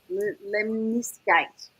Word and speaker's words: lemniscate: Lemniscate.